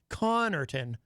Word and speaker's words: Connarton: in a way because the first syllable ends in a double consonant, C-O-N-N, which usually indicates that is where the emphasis would go. Connarton, not Connarton.